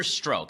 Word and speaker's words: Strzok: There's an agent named Peter Strzok. I think that's how it's pronounced.